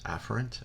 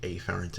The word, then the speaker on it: afferent: efferent little side note the correct way to pronounce this is afferent and efferent many instructors will just say a farad's and efferent to avoid any type of confusion all right so we